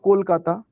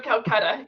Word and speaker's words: Kolkata: Is do you know about Kolkata? I've Kolkata, heard of Ca- it before. Calcutta. Yes, Calcutta. Yes, I've heard of Calcutta. Yes. How do you properly pronounce it? Calcutta? Kolkata. Actually, now it actually Kolkata.